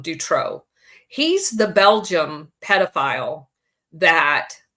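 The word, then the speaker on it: Dutroux: Mark drro is um his name is spelled MC um d t o ux I believe um Dutro he's the Belgium pedopile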